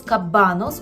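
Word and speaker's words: kabanos: ковбаска ми скажемо польською кабанос Зверніть увагу на наголос кабанос у множині частіше використовується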